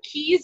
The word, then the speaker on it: Caye: to the islands or Keys as we call it yes they're spelled see ayes they're pronounced as like a key so I'm going on